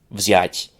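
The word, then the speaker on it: взять: For example, in English, it's common to have a vz at the end of a word, but not at the beginning of a word.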